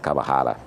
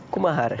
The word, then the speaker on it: Kumahara: Gostei da da de pronunciar camarara. É cumarahara.